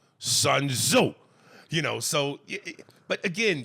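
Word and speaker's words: Sun Tzu: would say like when he mispronounced uh they're all sitting in the B bang talking he goes you got to read that book Art of War by suo and Sil gets mad and goes sunzo sunzo you know so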